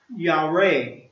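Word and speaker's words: יָרֵא: The Hebrew word for fear is Y-A-R-E and is pronounced Yareh, and means to be afraid, tremble, dreadful, and moral to revere.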